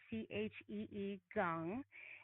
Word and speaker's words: Qigong: Yeah, Qigong, which is pronounced Qi, like Chee Gong, and it's meditation with movement.